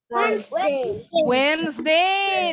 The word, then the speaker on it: Wednesday: Wednesday. That's it. Jadi ini hilang. D-nya silent. Yes, E-nya juga hilang. Bacanya jadi Wednesday. Yeah.